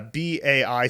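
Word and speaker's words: 百: and you see that it's pronounced by uh bai third tone okay well if you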